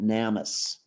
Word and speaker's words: NamUs: that, and the person actually called it NamUs, like a hard A instead of a long A, a short A.